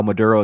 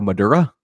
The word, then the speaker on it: Maduro: an offhand way, and he ended up calling Maduro Madura. So, Biden kind of stresses how familiar he is with world leaders, but he can't even pronounce their names correctly.